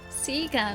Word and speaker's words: Sega: Yes, I know that Seager and Sega are both proper pronunciations, but I grew up saying Sega, so it's still Sega.